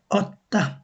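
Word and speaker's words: åtta: ও দিয়ে আমরা শিখেছিলাম অনেকটা ওর মত উচ্চারণ করা হয়। যেমন অত্তা এটা আত্মা হবে না এর উপর যখন একটা ডট থাকে এটাকে ওরা ও বলে ও অত্তা তগ ট্রেন অত্যা মানে আট তগ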